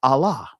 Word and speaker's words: Allah: off and end with a L you that tells you that it should be a at the end of that and in many cases a at the end of that and so it'll be pronounced Allah.